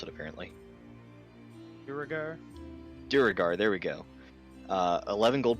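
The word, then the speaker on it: Duergar: From the from the goblins and I forgot their name because I can't pronounce it apparently. Duragar? Duragar, there we go.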